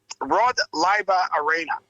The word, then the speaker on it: Rod Laver Arena: to be taking place in the can you pronounce that arena, Big J? Yeah, mate, it's Rod Laver Arena in Richmond and Melbourne.